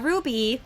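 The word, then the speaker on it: RWBY: R WB y uh Ruby is first of all is how it's pronounced secondly Ruby is a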